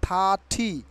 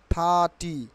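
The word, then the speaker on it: thirty: will be silent here R will be silent here কি উচ্চারণ হবে থাটি থা আকারে থা থরসে ঠি থা থি নট থার্টি নট থার্টি নট থার্টি থার্টি হবে না থার্টি থার্টি থার্টি থার্টি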